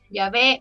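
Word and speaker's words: Yahweh: de acuerdo en que la pronunciación original era yah o yahwe Entonces ustedes pueden pensar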